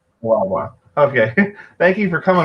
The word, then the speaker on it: Lavoie: How do you say your last name? I've been practicing it all day today. Yeah, Lavoie. That's right. Lavoie.